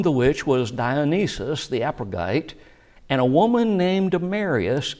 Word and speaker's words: Areopagite: The word that we pronounce Areopagite is pronounced a little bit different way. Areopagetes.